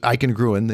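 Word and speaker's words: Eichengrün: Eichengruen, I think it's pronounced Eichengruen is the name.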